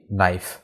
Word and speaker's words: knife: এখানে বিলিভ এবং রিসিভড এই দুটি বানানই সঠিক, কিন্তু NIFE এই বানানটা ভুল। এটা হবে KNIFE, নাইফ।